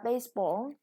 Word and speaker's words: baseball: you some new words here is a baseball with the first syllable stressed next hey boarding this